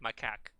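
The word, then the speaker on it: macaque: can search it up it's spelled like m a i think it's k a q u e so it's like maak and I was just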